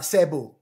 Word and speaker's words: Cebu: Sa Cebu, ang ganda ng mga taping dagat.